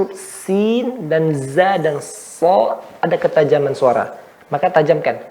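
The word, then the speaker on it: ص: Nah, short, ya, so. Yang betul banyak dari kita, Anda dulu waktu kecil juga membacanya sod. Yang betul so, ya.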